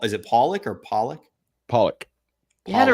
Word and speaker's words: Pawlak: again podcast on today's show we've got pollock am i pronouncing that correctly you got it pop pop is it pollock or pollock pollock you had it right the first time okay